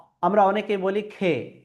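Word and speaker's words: خ: তারপরের বর্ণমালা খ এই খ উচ্চারণের ক্ষেত্রে আমাদেরকে এক আলিফ বরাবর টেনে পড়তে হবে। খ আমরা অনেকেই বলি খে না খে হবে না সঠিক যদি আমি উচ্চারণ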